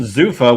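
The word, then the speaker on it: Zuffa: Zufa, which I thought was Zafa for the longest time.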